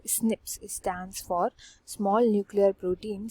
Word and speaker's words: SNP: में बोला गया है एसएनपी which is pronounced S स्निप्स stands for small nuclear